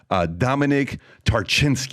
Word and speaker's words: Dominik Tarczyński: That being said, Dominik Tarczyński, it's great to have you on the podcast.